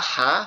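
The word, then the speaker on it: ح: দেখেন এখানে আমরা নিচে যদি খেয়াল করি যে বা হা সা, নিচে কোনো নোক্তা না থাকলে সেটা কি হয়ে যাবে, সাথে সাথে হা হয়ে যাবে।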